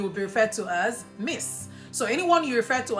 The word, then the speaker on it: Miss: And it's pronounced Miss. Miss is I miss you. So the same way you would say I miss you is the same way it's spelled, and that's how the pronunciation would go as well.